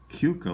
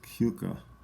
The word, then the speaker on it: Keuka: This one, Keuka Lake.